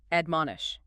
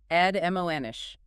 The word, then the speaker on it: admonish: First up, admonish. Admonish. 3 syllables. Stress on the second.